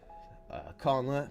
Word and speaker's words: Conla: Conla, pronounced like con, like a convention, and la, like a note to follow, so, is, I'm having